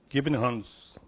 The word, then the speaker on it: Gibichungs: In these words, it is something very significant that you find Gibichungs, is how you say it, which is, of course, a kingdom.